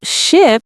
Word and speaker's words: ship: So ship is the big boat. Sheep is the animal with wool. The i and e sounds are different.